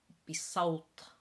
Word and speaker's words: بصوت: So it's a bit of a heavier S than what you would normally pronounce an S to be in salt, voice. And the T again is a little bit heavier and it has a bit of a glottal stop. So بصوت, not بصوت.